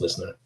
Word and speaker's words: LYSNYR: If you sounded out what it was called, listener. It's pronounced listener.